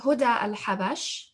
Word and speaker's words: Huda al-Habash: So Sheikha Huda al-Habash, and her name is spelled Houda, Huda, and al-Habash, A-L, and then Habash.